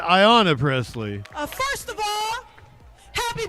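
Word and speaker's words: Ayanna Pressley: give it up for representative haana Presley I'm sorry that mispronounced that Ayanna Presley first of all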